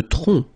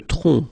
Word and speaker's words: tronc: Le tronc. Le tronc. Okay, remember, final C is not pronounced here.